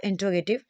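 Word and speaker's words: interrogative: प्रयोग affirmative, नेगेटिव और इंट्रोगेटिव में एक साथ प्रयोग किया जाता है। अब अगर हम बात करें, एक तो इस प्रोनाउंसिएशन को देखिए, आप इसे इंट्रोगेटिव कहते हैं, ना कि इंटेरोगेटिव, इंट्रोगेटिव, ठीक है।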